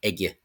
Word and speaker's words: aige: A better spelling would be to spell it as o, oige, because o before a slender g or before any slender consonant is reasonably regularly pronounced as e. So he doesn't say egg, but oige.